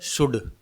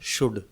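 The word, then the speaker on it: should: फिर ये है शुड। ठीक है, इसमें भी L साइलेंट है, शुड।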